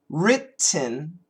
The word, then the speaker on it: written: So for example, written, we can stop where the T is. Let's go W-R-I-T-T-E-N. Let's go to the T, writ, okay? And then leave your tongue there, writ.